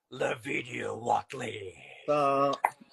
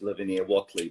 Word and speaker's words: Lavinia Whateley: Already here, Lavinia Whateley.